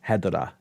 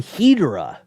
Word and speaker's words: Hedorah: in the movies yeah the japanese pronunciation is hedera and but in the inter like in either the aip dub or the international version the kid calls him hedorah with like a h e hedorah and i'm like why